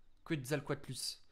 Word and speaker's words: Quetzalcoatlus: Ça va les gars, je l'ai bien prononcé là. Quetzalcoatlus.